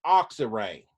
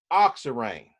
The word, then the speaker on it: oxirane: itself with no hydrogen's on it is called ox array o X i ra in e oxirane now if we have two methyls on here